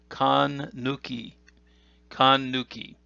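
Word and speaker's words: 閂: simply this right here the on reading of this is this ken or sen and the kun reading is khan nuki the meaning of this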